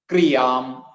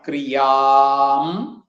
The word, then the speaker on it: ക്രിയാം: ഭജസേ യത് ക്രിയാം, ക്രീ എന്ന് തന്നെ പറയണം, ക്രിയാം.